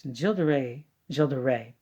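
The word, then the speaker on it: Gilles de Rais: called the tile of Gilda Reyes and Gilda Ray jilda Ray pardon you don't pronounce yes was a Infamous murderer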